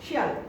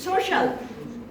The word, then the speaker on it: social: There is no shall. This is social. Social. Social. Yeah, social. This is CIAL, not shall. Social. I'm showing you the Bangla. This is social, but not shall.